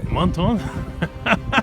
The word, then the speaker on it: Menthon: Menton. My pronunciation is perfect.